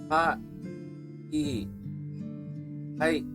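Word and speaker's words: はい: The word hi is actually pronounced ha, e, hi. But since Japanese is a language spoken in rapid pace, syllables tend to merge.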